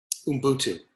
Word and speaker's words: Ubuntu: Ubuntu.